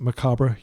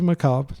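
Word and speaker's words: Macabre: continue to pronounce it macabra even though everybody pronounces maob sorry U because that's how it's pronounced in French and it's a French word um and uh let's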